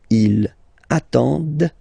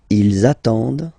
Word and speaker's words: attendent: And the last one, same thing, classic ending for il, elle at the plural form, ent, but then you don't pronounce them. Ils attendent, de, okay, so remember you get to pronounce this, d at the end, okay.